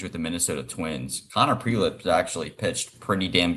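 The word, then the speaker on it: Prielipp: Pre-lip. Pre-lip? That's how you say it?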